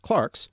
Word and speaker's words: clerks: in the middle ages clerks sometimes now pronounced clarks were the only well-educated